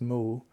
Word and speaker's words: mu: no or nothing and in Japanese it's mu pronounced Mo so mu became the